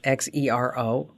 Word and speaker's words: Xero: It's spelled with an X, Xero, and that's free for small businesses.